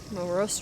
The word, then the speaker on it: morose: Morose rhymes with hose.